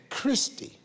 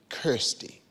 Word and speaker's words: Kirsty: So I was saying Christy, but it's actually Kirsty. Rhymes with thirsty.